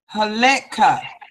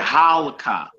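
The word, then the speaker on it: הָלְכָה: That's a Shiva underneath the Lamed. Halekha. You would say a halka.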